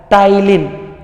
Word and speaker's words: ptyalin: See, ptyalin, here P is silent, it will pronounced as ptyalin or otherwise salivary amylase.